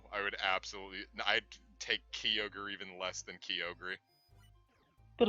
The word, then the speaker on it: Kyogre: saying that it's actually pronounced key ogre. Because that's how that. I guess they're apparently supposed to say it. No, I would absolutely. I'd take Kyogre even less than Kyogre.